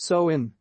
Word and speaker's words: Samhain: date back to the ancient celtic festival of samhain pronounced so in the celts who lived two thousand years ago